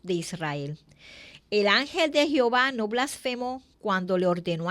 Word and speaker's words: Jehová: La pronunciación correcta del tetragramatón es Jehová.